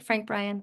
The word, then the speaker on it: Frank Bryan: Frank Bryan?